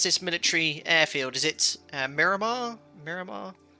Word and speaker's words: Miramar: i chose it today is how do you pronounce this military airfield is it miramar miramar not so sure but uh i guess